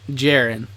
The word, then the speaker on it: Jehoran: Pronounce Jehoran like Jaren. Jaren.